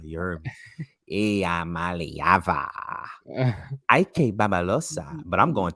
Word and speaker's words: Iamaleava: Y'all better get ready to say his name, Iamaleava. You heard me? Iamaleava.